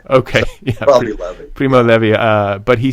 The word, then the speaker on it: Primo Levi: so you're probably right dallas is not like the blue jean it's probably not levi okay probably primo levi uh but he says